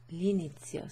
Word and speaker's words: l'inizio: L'inizio, okay, si pronuncia come se fosse una sola parola, okay, so you pronounce that as if it's like one word rather than two.